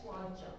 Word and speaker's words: Sláinte: Slante or something? Oh, that's what I was thinking. Sláinte. Yeah, slante. How do you say it? Sláinte.